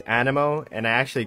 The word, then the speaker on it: Anemo: how i say it i've been saying a nemo for so long and i know the proper way to say it is animo and i actually call